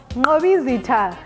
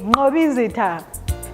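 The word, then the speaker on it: Mqobizitha: spelled i-x-o-x-o-e-koko and also our names have got the click sound for an example mobizita and that is spelled m-q-o-b-i-z-i-t-h-a mobizita next time come along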